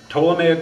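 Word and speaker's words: Ptolemaic: original sin Fallen man uh Flat Earth um toic worldview what is toic TT L yeah and we don't pronounce the T I mean the p so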